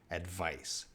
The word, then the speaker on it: advice: the ipa spelling but we see a c here in the ipa that's going to make that s sound advice advice and that's very important